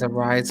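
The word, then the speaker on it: Arize: Under Facebook is a Rise Women Network. That's with an apostrophe, ARI apostrophe ZE. But it is pronounced Arise and still rise.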